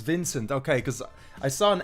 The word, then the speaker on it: Vincent: I haven't even asked you how to pronounce. Okay, so it's Vincent.